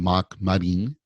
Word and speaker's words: Mark Marin: As we pronounce in Japanese, I'm Mark Marin.